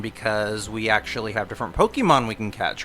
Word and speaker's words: Pokémon: She does, it's not Pokemon. How do you say that? Pokemon for Pocket Monster. Pokemon. Pokemon. Pokemon. There's an apostrophe over the E.